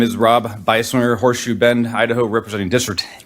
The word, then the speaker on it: Beiswenger: Thanks for pronouncing my name correctly. I always appreciate that. My name is Rob Beiswenger, Horseshoe Bend, Idaho, representing District 8, which covers